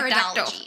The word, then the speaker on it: pteridology: of ferns is called pteridology that one I didn't that's with a silent P kind of like par pteridology in Victorian times you